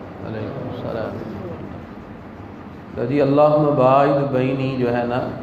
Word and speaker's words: اللہ: وہ یہ ہے کہ لفظ اللہ جو ہوتا ہے نا وہ لفظ اللہ لام پر کھڑی زبر ہوتا ہے.